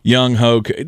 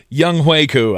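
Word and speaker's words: Younghoe Koo: hway ko young hoku young hoku that's not how you say it my old helene but my young hoku young huiku i think is how you're supposed to say it obviously kicking the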